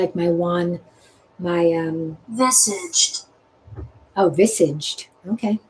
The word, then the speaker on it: visage: Visage is the French pronunciation.